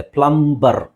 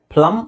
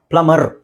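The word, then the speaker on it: plumber: refer ಮಾಡಿ next ನೋಡಿ ಇದು ಪ್ಲಂಬರ್ ಅಂತ ನಮಗೆ ಅನ್ಸುತ್ತೆ ಪ್ಲಂಬರ್ ಸೋ ಇಲ್ಲಿ ನಾವು ಬಿ ಎಂ ಮತ್ತೆ ಬಿ ಬಂದಾಗ ಆಕ್ಚುಲಿ ಎಂ ಮತ್ತೆ ಬಿ ಕೊನೆಯಲ್ಲಿ ಬಂದಾಗ ಬಿ ಸೈಲೆಂಟ್ ಆಗುತ್ತೆ ಪ್ಲಮ ಅಂತ ಹೇಳ್ತೀವಿ ಅಷ್ಟೇ ಪ್ಲಮ ಪ್ಲಮರ್ ಇಲ್ಲಿ ನೀವು ಅರ್ ಅಂತನಾದರೂ ಹೇಳಬಹುದು ಸೋ ನಾನು ಹೇಳೋದು ಬ್ರಿಟಿಷ್ ಇಂಗ್ಲಿಷ್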